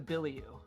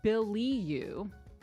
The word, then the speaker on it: Bilyeu: to ask so then i said billy you because of the pronunciation here if it was bilio just do b-i-l-l-y right like billy and then billy ooh probably should have done